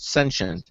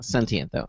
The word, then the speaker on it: sentient: form okay sentient life okay because some people pronounce it sensient you know uh sentient though that's fine so um uh so why don't